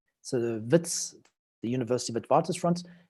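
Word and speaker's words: Wits: is so it's pronounce Vitz with a V because it's originally a Dutch name so Vitz the University of advantis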